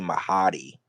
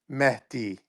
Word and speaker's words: Mahdi: No, I think the real pronounce it's something like Mehdi. Like that's the real Me- pronunciation. Something like it's like Mehdi, but that's like M a hard. That's a M hard pronunciation if you're not familiar.